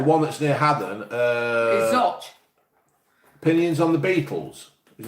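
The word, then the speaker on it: Zouch: Is it Zoch or Zooch? No, it's spelled Zooch, isn't it? But it's Zoch. Oh, right. Yeah, it's Zoch.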